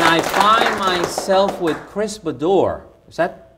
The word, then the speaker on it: Bodor: And I find myself with Chris Bodor. Is that pronounced properly? Like a bow on a door, yeah. Okay. Bodor. Bodor.